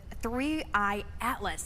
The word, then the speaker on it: 3I/ATLAS: But let's talk about the new things with 3I Atlas. That's the correct way to pronounce it, correct?